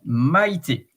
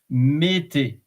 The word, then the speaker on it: Maïté: The tréma means please pronounce me separately. Because in French, in the vocals might have combinations like OU, AI, EU, you know, and OE, for instance. And in that case, if there is no tréma, it would have been pronounced mété, because AI is A.